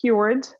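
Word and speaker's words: Kyoord: little funky it's k-y-o-o-r-d it's pronounced keyword because um I believe in volleyball is a cure um and it's spelled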